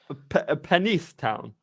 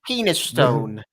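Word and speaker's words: Penistone: really weird though so how would that be pronounced penise town I don't believe you it's penis Stone British see that's you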